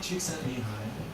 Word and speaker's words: Csikszentmihalyi: Mihai Csikszentmihalyi, and that's by the way how you say